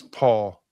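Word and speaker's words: Pahl: And Wes Paul, a punter out of Oklahoma State. And that's how you pronounce his last name, even though it's P-A-H-L. And it's not Les Paul like a guitar.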